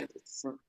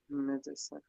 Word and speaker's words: medicine: And we don't hear the E, so we don't write it in the phonetic transcription. Medicine. So medicine, Medicine. Yeah. medicine. Okay. So it Mm-hmm. often happens when it is not the stressed syllable.